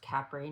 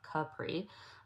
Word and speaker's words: Capri: And when we were in Capri, which by the way is pronounced Capri not Capri.